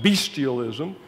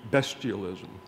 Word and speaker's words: bestialism: terms angelism and bestialism be sure you understand that word is not pronounced bestialism because when it becomes a collective noun it gets the short e bestialism percy has tom moore